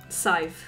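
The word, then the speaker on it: Sadhbh: How do you say it? Scythe. Scythe. Like S I V E.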